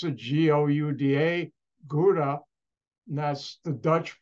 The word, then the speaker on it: Gouda: a Dutch company that was headquartered and you pronounce the g-o-u-d-a gouda and that's the Dutch pronounce it and